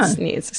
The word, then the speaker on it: Sneads: If they say it's Sneds, I'm going to be fucking pissed off because it's spelled Sneed. Because there's 7 E's. It's Sneads. That's Sneeds. Yeah. Sneeds. 100%.